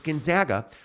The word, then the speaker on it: Gonzaga: I want you to say it right it's Gonzaga I paid for Gonzaga and you'll respect my